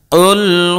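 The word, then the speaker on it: قُلْ: প্রিয় দর্শক, দেখুন এই জায়গায় যদি আমরা ছোট কাফ দিয়ে উচ্চারণ করি তাহলে অর্থ হয়ে যাবে এক আল্লাহকে খেয়ে ফেলো, নাউযুবিল্লাহি মিন যালিক। কিন্তু বড় কাফ দিয়ে যেভাবে আছে যদি সঠিক উচ্চারণ করি তাহলে অর্থ হবে কি, বলো তিনি আল্লাহ এক অদ্বিতীয়। শুধুমাত্র এই যে কাফ এবং কাফের মাঝে পার্থক্য করে উচ্চারণ করার কারণে দেখেন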